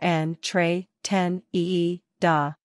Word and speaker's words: entretenida: Pronunciation, en, tre, ten, ee, do, or en, tre, ten, ee, da.